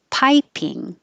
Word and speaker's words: piping: 34, piping. The first vowel is I, piping, as in piping hot.